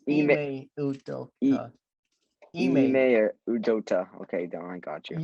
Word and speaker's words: Ime Udoka: say his name. It's Ime Udoka.